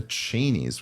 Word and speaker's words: Cheney: is enough that the chenies the chenes I think you're actually I think cheni is actually how they pronounce it whatever yeah but Cheney